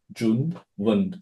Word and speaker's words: Junwen: So the actual pronunciation is Junwen. So you just speak how you read it.